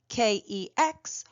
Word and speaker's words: kex: For those unfamiliar with Swedish, soft vowels I, E, following hard consonants such as G or K will cause the consonant to take on a soft pronunciation. As such, K-E-X ought to be pronounced as the Swedish lad just explained, kex.